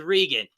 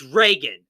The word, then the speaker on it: Regan: You pronounce her name as Regan. It's Reagan, okay? It's like, have you not even like Ronald Reagan?